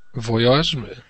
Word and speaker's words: voyage: can be said can be pronounced the French way in English so you can say garage or garage but you can't say Voyage because you have to say voyage voyage okay next word begins